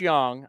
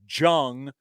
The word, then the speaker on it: Jung: just look at Josh Young I know it looks like Jung it's Josh Young because he's German is it German I think so look at about you're playing with the Rangers Third Base yes it's spelled j-u-n-g but it's young you want the like